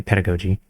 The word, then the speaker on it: pedagogy: I'm gonna check the pronunciation of... Okay, Pedagogy.